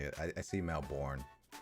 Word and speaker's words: Melbourne: deep fried is better deep fry a boot melbin melbin no I don't I don't say it I see Mel borne we may have Melbourne Florida Craig but